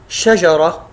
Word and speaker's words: شجرة: شجرة. شجرة، نجد في كلمة شجرة انتهت بالتاء المربوطة، والتاء المربوطة مثل ما ذكرنا سابقا تنطق تاء وتنطق هاء عند الوقف.